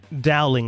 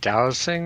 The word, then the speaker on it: dowsing: Do you mean dowsing rods? Dowsing rods. Thank you, Yoko. I always pronounce it wrong.